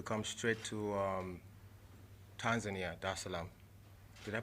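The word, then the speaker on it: Dar es Salaam: the seventh to come straight to um tanzania da salaam did i pronounce that right yeah okay cool there islam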